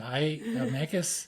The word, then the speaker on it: Mancos: Mancos, it's pronounced Mancos, not that you would know that, but Mancos is 25 miles west of Durango.